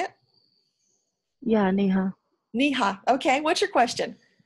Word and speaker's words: Neha: N-E-H-A. Yeah, right. Na? That's how you say it? Yeah, Neha.